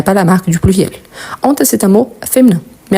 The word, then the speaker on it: honte: Comme je vous ai dit, on a le H muet qu'on peut faire élision et liaison. Il y en a le H aspiré, qu'on ne peut pas faire ni la liaison, ni l'élision.